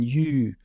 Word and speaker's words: Llull: They say it's not Ramon Llull, it's Ramon Yu, because he's got LLU, something like this, right?